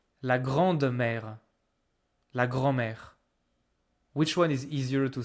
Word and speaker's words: grand-mère: So we don't say grande-mère, we say grand-mère.